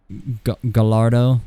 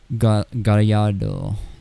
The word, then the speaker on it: Gallardo: Gallardo should be Gallardo, something like that. Because it's Italian, right? We say Gallardo.